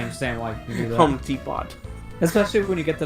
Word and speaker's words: Home Depot: I used to pronounce the Home Depot as Home Depot when I didn't realize the T was silent.